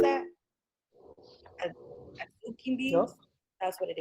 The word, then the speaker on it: adzuki: a mix of rice and how do you pronounce that? Azuki beans.